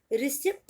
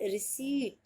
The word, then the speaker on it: receipt: रिसिप्ट नहीं बोलते हैं इसे, इसे हम बोलेंगे रिसीट। अगर अभी तक रॉन्ग प्रोनाउंस करते होगे तो अब मत करना, अब आप इसे बुलाना रिसीट।